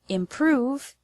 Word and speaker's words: improve: The word improve has the stress on the second syllable, prove.